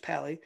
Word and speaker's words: Pa11y: to make fixes pali pa11y pronounced pali is another tool that